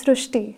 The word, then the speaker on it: Srushti: srti so in marati the word r is pronounced as Ru so that is why the pronunciation goes srushti so uh hereby the